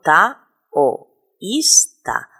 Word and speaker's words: taoísta: sílabas o por ejemplo la palabra taoísta yo digo ta o ista la o y la i se pronuncian en dos sílabas diferentes o por ejemplo otra